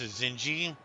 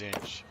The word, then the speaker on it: Zinj: of course with zinj some people pronounce zinji that's not the way to pronounce it is it's inch for my character name